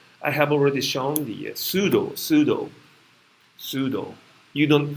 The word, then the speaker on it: pseudo: a scientific area i have already shown the pseudo pseudo pseudo you don't pronounce the top p in this one as well can you pronounce this the second one second word first one is pseudo like a pseudo first order reaction first pseudo-order